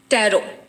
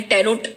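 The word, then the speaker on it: tarot: ટેરો એટલે તારો, એને બહાર જે બહારની કન્ટ્રીમાં પ્રોનાઉન્સ થાય છે ઇટ્સ અ ટારો. TARO. અહીંયા આગળ એને ટેરોટ કહે છે, પણ રિયલ એનું પ્રોનાઉન્સ T is silent, હા.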